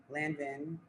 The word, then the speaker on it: Lanvin: Um, if y'all watched my house, y'all know that I was considering going to Lanvin, right? Mhm. That's how you say it. Yeah. I was considering going to Lanvin.